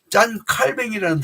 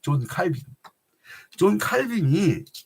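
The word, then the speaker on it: Calvin: 내가 교회에 속해 있다는 게 얼마나 소중한 거냐면 짠 칼뱅이라는 사람이 있어요. 영어식 발음 존 칼빈이 짠 칼뱅이 뭐라고 하시냐면 하나님께서 아버지가 되시는 자들에게는 그러니까 하나님이 아버지가 되는 사람들에게는 우리가 하나님을 아버지라고 고백하죠.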